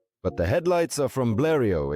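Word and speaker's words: Blériot: But the headlights are from Blio. Excuse my French. It's like with Pujo. So many extra letters and they're not pronounced the way they should be.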